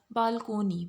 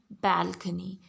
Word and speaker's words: balcony: instance if you see this one word it's pronounced as balconey by people which is wrong it's basically balcony as soundin balcony absolutely than fabulous right so